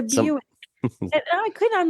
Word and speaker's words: Buick: I was like Wick what's what's a bick she literally had never heard of Buick in her entire life and I'm laughing she's like I couldn't is how do you say it I said it's it's it's a Buick I couldn't I'm like